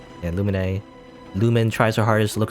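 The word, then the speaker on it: Lumine: illuminae by the way the main character's name luminae i think that's wrong i'm saying it wrong i think it's a lumen lumen you know that sounds weird up to me i always think in my head luminae that's not right it's lumen apparently lumen lo mine something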